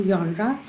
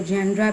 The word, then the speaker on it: genre: कि what is literary जॉनरा in English literature. कुछ लोग इस वर्ड को जॉनर भी पढ़ते हैं, कुछ इसको जॉनरा भी पढ़ते हैं, लेकिन the word is जॉनरा जॉनरा।